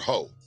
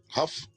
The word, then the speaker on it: Hough: Is it Huff or Ho? It's Hough. Huff, like tough. You know, I've seen this name like kind of pronounced or spelled like, and they'll use Ho. So I don't know if it's Hough, but I think it's Huff.